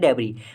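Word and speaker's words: debris: हैं डेब इसे दोस्तों डेब नहीं बोलते एस नहीं लगाते एस एस साइलेंट होता है इसको बोलते हैं डेब डेबी का मतलब है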